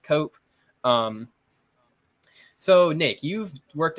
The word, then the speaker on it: Koop: on Twitter at nk-o-oop Coop with a K but it's pronounced cope um so Nick you've